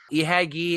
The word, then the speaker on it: Ihagee: Ihagee is a pronunciation of the letters IHG, which itself is an abbreviation for something really, really long in German. I don't remember what it is. So it is definitely an I.